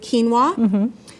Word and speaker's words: quinoa: a salad made with quinoa which is a grain that's gotten a lot more popularity lately it's spelled q-u-i-n-o-a so it does not sound the way it's spelled and this has more